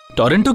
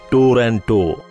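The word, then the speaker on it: Toronto: বলো, টরন্টো কি? ইটস আ টরন্টো, ইটস টরেনো। T silent করা তোমার জন্য একটু মুশকিল হবে, কিন্তু ইউ ক্যান ট্রাই, বোকা ছেলে।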